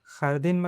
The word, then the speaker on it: jardín: Another example is jardín.Jardín is pronounced "khar-deen" and means "garden."